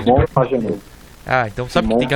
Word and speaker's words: Pagenaud: Como se pronuncia? Simon Pagenaud.